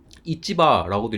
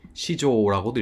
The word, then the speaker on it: 市場: 시장에 읽는 방법 요카다. 이찌바라고도 읽고 여기 시조라고도 읽습니다. 어,이 글의 메인 테마이기도 한데요.